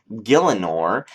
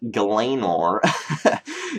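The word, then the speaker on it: Gielinor: uh the map features the world name is actually called gillor and that's pretty cool because I used to actually call it galanor and a lot of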